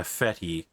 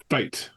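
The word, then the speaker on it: fête: Fe. Yes. Fate. It's pronounced fate. Okay. I've only read it in the Dune books. So, okay. No worries. It's a common term here that's used for like school fairs, that sort of stuff. Yeah. But fet is fate.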